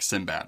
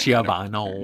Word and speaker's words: Siobhan: And I'm glad you said it because I would have said like Sinbad or something. Siobhan.